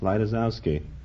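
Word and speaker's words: Lejtizouski: Originally it was spelled L-E-J-T-I-Z-O-U-S-K-I. How did you pronounce it then? Lightusowski.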